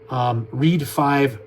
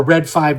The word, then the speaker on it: Red 5: me and said, well, you can pronounce our name either way. We don't actually have a preference on how it's said.